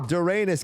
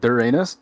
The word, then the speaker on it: Doranis: really matter, but like everyone's like saying Doranis. Like I don't fucking care, but like I had a native Korean friend who like pronounce it like a certain way, and I kind of like that pronunciation. She pronounced it like Doranis.